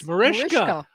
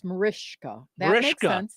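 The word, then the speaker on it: Mariska: It's Marishka. So that's how I used to pronounce it and then I thought it it was Maris I thought I was doing it wrong. So it's Marishka.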